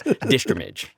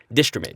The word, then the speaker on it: Distrimage: It was Distrimage. It's a portmanteau of distribute and image. Distrimage.